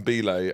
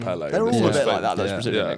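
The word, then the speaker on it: Pelé: It someone called him Bele and they said it wrong. He's called Pelle.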